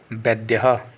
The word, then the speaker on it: वैद्यः: वैद्यः, उपचार करने वाला या फिर डॉक्टर भी कहेंगे इसको हम, संस्कृत में इसको वैद्यः, इस प्रकार से इसका उच्चारण किया जाएगा।